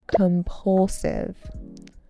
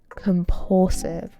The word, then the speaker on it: compulsive: Compulsive. Compulsive with a stress on the second syllable.